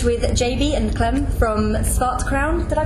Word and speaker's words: Svart Crown: currently sbag stage with JB and Clen from scart Crown did I pronounce that correctly SC Crown yes okay so guys how's the tour going